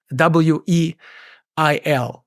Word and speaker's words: Weyl: His name is spelled W-E-Y-L and is pronounced Weil, whereas André...